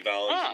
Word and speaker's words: Valens: of years ago so making it making phelan's like the widest way he can possibly pronounce his last name yeah which for a mexican kid is kind of bad yeah well because valens was short for venezuela but no it's richie valance the big bopper fun